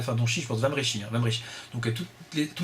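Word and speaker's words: Wambrechies: Donc on prononce Van Brechies.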